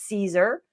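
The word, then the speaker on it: Siser: with the Caesar vinyl that's how you say it's Caesar and the answer is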